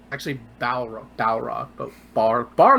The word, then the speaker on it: Balrog: yep that's what it is yep it's actually Balrog Dow rock both bar bar log all right